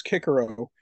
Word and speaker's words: Cicero: So even someone like Cicero, I guess if you pronounce Latin correctly, supposedly now they're saying it's Cicero, but Cicero had like a thousand slaves.